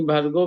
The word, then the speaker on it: भर्गो: और आगे भर्गो में आचार्य जी, जी भर्गो में जो है ना ओकार वो स्वरित है। यानी भर्गो में भर्गो ऐसे होगा, हाँ कैसे रहेगा उसका हाँ उच्चारण। मैं बताता हूँ आपको। तत्सवितुर्वरेण्यं भर्गो, भर्गो ऐसा करके ओकार को नहीं करेंगे, ओकार को नहीं खींचेंगे यहाँ पे।